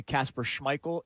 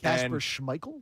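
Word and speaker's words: Kasper Schmeichel: Uh by the way, Casper Schmeichel is the correct pronunciation. Oh, proud of you. Our in-house soccer expert Sean Rodman has confirmed it. Casper Schmeichel and our uh overseas uh Kieran uh has confirmed it.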